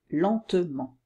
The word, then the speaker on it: lentement: évidemment seule exception l'an on ne dit pas la main mais lentement voilà donc pour résumer trois